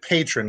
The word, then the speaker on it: Patreon: it's um so-so patron it's they pronounce it patron because I've watched all